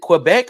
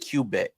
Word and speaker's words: Quebec: got replaced the Dr Quebec is it Quebec or is it cubec I call it Quebec Quebec it is Quebec thank you do uh